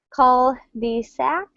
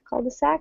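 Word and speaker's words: cul-de-sac: So it's spelled like this. called the sac. Call the sac. I think it comes from French.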